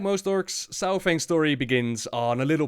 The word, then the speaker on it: Saurfang: Varok Saurfang, or Saurfang as it's supposed to be pronounced, is a legend amongst the Horde and a lot hold him in high regard.